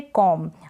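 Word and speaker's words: comb: ए जाए नेक्स्ट है कॉम अब इसका प्रनंसीएशन कॉम होगा बी यहां पर साइलेंट है कॉम मतलब कंघी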